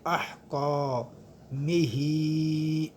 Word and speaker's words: احکامہ: ایک الف کی مقدار۔ جمیع احکامہ، حرف حلقی میں سے ہے تو اس کو ہم حلق سے ادا کریں گے، درمیان حلق سے، اور کاف جو ہے اس کے بعد الف مدہ ہے، اس کو ہم کھینچیں گے احکامہ۔ ہا کے نیچے کھڑی